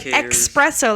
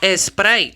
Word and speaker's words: espresso: for real people want to be like expresso like we're expressing our coffee i just don't even espresso espresso like espresso it's italian it's kind of like